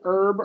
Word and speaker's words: herb: back okay sorry uh the H here is silent herb herbal oh okay herbal